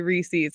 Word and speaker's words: Reese's: It's more like Reese is peanut butter cups, but you say Reese's. So I'm curious too, whoever's listening, whether you say the is or Reese's, because I swear it's Reese's.